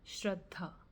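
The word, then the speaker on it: Shraddha: The pronunciation of the word is shreddha.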